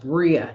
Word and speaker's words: Bria: Okay, it's pronounced Bria. See, and I can actually like say that.